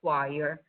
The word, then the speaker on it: choir: Pay attention to the pronunciation of choir. That is different from what you see spelled when you read it.